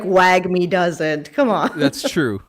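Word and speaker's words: WAGMI: to say it because it would be wag me right w-a-g-m-i and i've heard that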